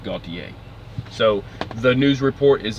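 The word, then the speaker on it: Gautier: eastbound side near gaultier GA you ti er I believe that's pronounced Gaultier so the news report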